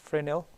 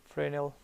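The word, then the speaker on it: Fresnel: expressions are called Frey FR nail but it's pronounced frenal frenal equations we can do the same kind of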